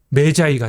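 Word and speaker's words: Magi: 마구스 복수가 되면가 되잖아요 이걸 영어식으로 발음하면 매자이가 되는 거죠 매기 기 이 아는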